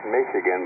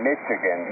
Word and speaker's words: Michigan: way they would pronounce Michigan was funny. They call it Michigan, Mitch, like you say, Mitchell, Michigan, and no, it's Michigan. Remember that?